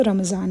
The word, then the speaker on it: रमज़ान: जबकि south Asia की तरफ आप आएंगे, जिस रीजन में हम लोग हैं, यहाँ पे जो डी की प्रोनाउंसिएशन होती है वो जेड होती है ड्यू to limitations of alphabets. तो हम इसको रमज़ान बोलते हैं।